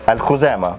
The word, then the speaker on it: Al-Khuzama: Like in the original Arabic word, there's a kha, but in Spanish they don't pronounce that.